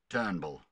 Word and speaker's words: Turnbull: a who is this guy he's terrible it's pronounced Turnbull it means inspiration and innovation in Australia